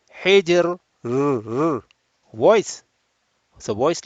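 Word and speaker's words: حجر: of people, they will, if the Ra appears at the, especially at the end, which is Sakin, they do not pronounce the Ra audibly. Hijr, Sihr. You are making the Ra Mahmusa, whereas Ra is not Mahmusa, it's Majhura. You have to have voice.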